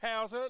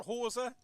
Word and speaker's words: Hauser: And I'll try not to forget that it's Hauser, not Hauser, as it was pronounced.